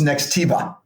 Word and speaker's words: Nextiva: first of all first of all did I pronounce the name of the company the right way yes it's Nextiva wonderful what does next Eva do so next